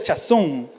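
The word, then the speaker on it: חָזוֹן: Y viene una palabra que significa, o se pronuncia chazón, que significa dirección divina.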